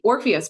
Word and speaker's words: Orpheus: And we are here to talk about her experience at the Orpheus Parade. And I got that pronunciation correct?